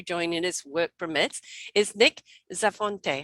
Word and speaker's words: Nick Zafonte: hope will be joining is work permits is nick zafonte how am i pronouncing that right yep that's right it's wonderful